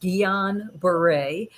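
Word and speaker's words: Guillain-Barré: syndrome which is pronoun it's a french word it's pronounced guillain-barre so or just gbs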